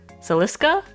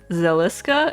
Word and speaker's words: Zeliska: say her name but celiska zeliska it's it's a z z e l i s k a zeliska booby lady um